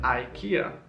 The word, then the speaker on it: IKEA: However, in England we call it IKEA.